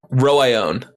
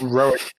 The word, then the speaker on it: Roion: What about Roion? It's not Rowan.